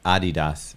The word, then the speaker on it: Adidas: Adidas, if you want to say it right.